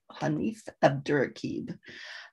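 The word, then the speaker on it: Hanif Abdurraqib: recommend is a little devil in america by hanif a durakeeb and yes that's how you pronounce it hanif abdurakib hanif is known for his insightful books of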